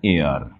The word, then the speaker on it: heir: দেখো, এই হেয়ার শব্দটাকে আমরা কিন্তু এটাকে হেয়ার বলি, এটা উচ্চারণ কিন্তু হেয়ার না, এটা হচ্ছে এয়ার।